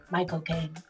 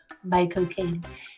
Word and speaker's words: Michael Caine: Michael Caine. That's how you say his name. Michael Caine.